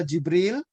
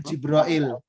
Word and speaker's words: Jibril: Nah, ini Jibril, ini cara bacanya ada dua ini Jibril ini. Bisa Jibril, bisa juga itu Jibrail. Ya, Bapak Ibu ya, perhatikan tuh ya. Ini bukan salah loh, ini sehnya ini.